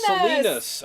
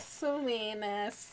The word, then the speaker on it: Salinas: joined us salinas oh salinas oh salinas just remember selena that's right and they